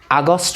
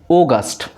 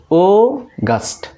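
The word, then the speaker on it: August: এরপরে এটাকে আমরা বলি আগস্ট বলি, এটা আগস্ট না, এটা হবে এই ও এর উচ্চারণটা একটু লম্বা করে পড়তে হবে, অগাস্ট, অগাস্ট, অগাস্ট, অগাস্ট।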